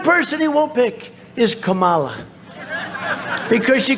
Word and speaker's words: Kamala: No, my name is Kamala, like comma.